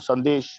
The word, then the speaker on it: Sandesh: Let's go back to Sandesh, which in Bengali is pronounced Shandesh.